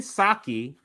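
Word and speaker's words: Psaki: the 37 number so um jin is saki right the p asylum jin saki that tells you how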